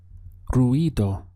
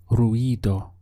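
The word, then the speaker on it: ruido: noise in Spanish is ruo ruo make sure you're getting this e sound over the i r e do ruo is noise to say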